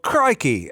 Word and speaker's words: Crikey: They even on the side spell it out for you phonetically, like cry, CRYKEY, if you couldn't read.